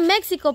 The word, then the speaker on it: México: que está en México también México México es se escribe México pero se pronuncia México te lo pelaron est